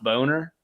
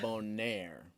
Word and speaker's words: Bonner: Yeah, well, that's the spelling that I use, but I pronounce it Bonaire. It's got a little French flair, and then when people sometimes will say, people say Bonner more than they say Boner, which is surprising.